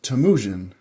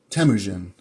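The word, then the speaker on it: Temüjin: bit about gas Khan his original name was tamuin tamuin that's how you pronounce it it's been a while since I've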